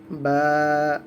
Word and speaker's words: ب: তারপর বা, একটু টান হবে।